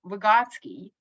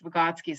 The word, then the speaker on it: Vygotsky: So it's just it's a very it goes to it goes back to our Vygotsky, or Vygotsky, as we I think pronounce his last name, but in America it's Vygotsky, so I've transitioned.